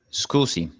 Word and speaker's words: scusi: where's the toilet so how do you say excuse me in Italian it would be school see great so we get